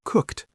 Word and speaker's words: cooked: For example, cooked sounds a bit like it ends with a t.